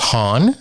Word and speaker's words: Haun: I believe it's pronounced Haun. Is that correct? That is correct.